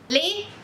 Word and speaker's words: les: As letras D, S, T, P no final de uma palavra em francês não são pronunciadas.